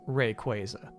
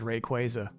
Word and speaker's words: Rayquaza: and then was Rayquaza and they're like it's pronounced Rayquaza and I'm still reeling I'm they messed me up is it though officially officially it is Rayquaza they didn't mention Mega neum I wish it